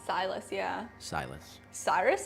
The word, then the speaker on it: Silas: I believe SJM's name is spelled SYLAS, right? Silas, yeah.